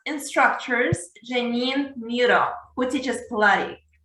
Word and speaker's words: Pilates: So the first question is, can you tell me what Pilates is and how do you exactly pronounce that? Yes, Pilates is created through Mr.